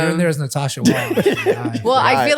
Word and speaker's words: Huang: Natasha, what's it like being white with the last name Wang? Well, we're not married, Oh. so We I pronounce don't. it Huang.